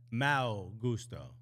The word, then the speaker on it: Malo Gusto: And by the way, in Portuguese, it's Mau Gusto.